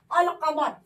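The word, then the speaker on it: القمر: जैसे अगर हम एक आपको एग्जांपल दे दें, यहाँ देखिएगा अलिफ लाम लिखा है और कमर, अल कमर, तो यहाँ पे लाम का तलफ्फुज हम करेंगे।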